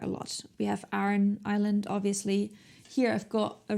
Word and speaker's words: Islay: are so distinct and that's Isla it's spelt Islay but you say Isla and as you can